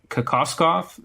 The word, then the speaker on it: Kokoskov: So I'm curious to see how Kokoskov, is that how you pronounce it?